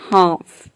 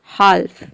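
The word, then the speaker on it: half: अगर यहाँ पे एल को हम प्रोनाउंस करते तो ये हो जाता हाल्फ, लेकिन एल यहाँ पे साइलेंट है क्योंकि एल के बाद एफ आ रहा है, इसके लिए।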